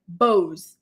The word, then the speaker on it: Boz: It's pronounced like Bose. Okay, thank you. Because I'm thinking balls like boss, boss babe or something like that.